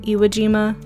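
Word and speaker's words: Iejima: here in a second also yes it's called e e Aima gima is Island in Japanese like iima and this is their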